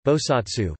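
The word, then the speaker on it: 菩薩: In Mahayana and Vajrayana Buddhist thought, a bodhisattva Chinese, Pusa Pinyin, Pusa, Japanese pronunciation, Bosatsu, Korean pronunciation, Bozal, is a being who is dedicated to achieving complete Buddhahood.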